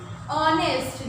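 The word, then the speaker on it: honest: आना चाहिए, बट नहीं, ऑनेस्ट। जब मैं उसको प्रोनाउंस कर रही हूँ ना इस वर्ड को ऑनेस्ट, तो मेरे मुंह से क्या निकल रहा है, ओ, तो पहले ओ निकल रहा है, यानी स्वर वॉवल्स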